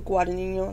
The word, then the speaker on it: Guadagnino: But Luca Guadagnino, that's how you say it, it's very close.